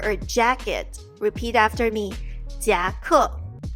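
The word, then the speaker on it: 夹克: 夹克夹克夹克夹克 was phonetically translated from the English word jacket because blazer or a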